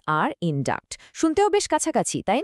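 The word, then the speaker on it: induct: উচ্চারণেও একটা পার্থক্য আছে। একটাতে স এর মতো সাউন্ড ইনডিউস, আর অন্যটাতে ক এর মতো সাউন্ড ইনডাক্ট।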